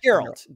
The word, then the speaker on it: Geralt: geralt I don't know how do you pronounce his name geralt geralt yeah with a Galt yeah g with a G not a j okay geralt was born